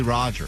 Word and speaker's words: Rodger: His name is, ironically, Rodger. It rhymes with Dodger, and he is a Dodger hater.